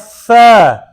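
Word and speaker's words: ف: Allah is the same origin of Fa, okay? Fa is a Liswiya letter and is pronounced from the tip of the tongue, touching the inner edge of the top two front teeth.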